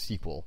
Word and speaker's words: SQL: called structured query language or SQL sometimes pronounced sequel although I will avoid that pronunciation in this screencast series one of the nice